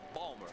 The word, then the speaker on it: Baltimore: Well, the natives pronounce it Balmer. Balmer. As if it were spelled B-A-W-L-M-E-R.